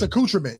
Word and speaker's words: accoutrement: Accoutrement? What is Nobody's going to say that. Nobody's going to say anything about Just me, huh? it. Yeah, just you. It's accoutrement.